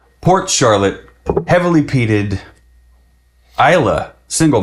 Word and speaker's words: Islay: 10 years 100 Proof we say Isa maybe you say isay maybe you say Isla how how you how are you supposed to is how how are you supposed to pronounce that it's Isa come to find out and uh you know